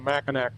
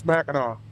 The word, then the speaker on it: Mackinac: up here pronounce everything Mackinaw. So there you go. In case you were wondering that's the Mackinac versus Mackinaw thing and I was totally wrong on the Mackinac thing. It's Mackinaw. Keep it simple.